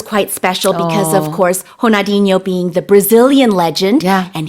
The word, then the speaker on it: Ronaldinho: He was presented the award by Ronaldinho or Honadinho if you want to use the correct pronunciation and that was quite special because of course Honadinho being the Brazilian legend and he also uh